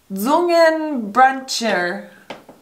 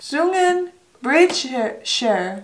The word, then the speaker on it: Zungenbrecher: Zungenbrecher. CH. Ch. Ch. Osh. This time, it's not the ch. It's the sh. It's the sh. Not the ch. Sure. Zungen. Brecher.